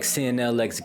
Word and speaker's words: CNLX: Alright, welcome back, CNLX Gaming. You already know the vibes where the X is silent.